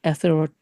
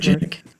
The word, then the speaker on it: atherogenic: them, why do you say LDL is atherogenic? No, I can't pronounce that word. Atherogenic is the Yeah, word.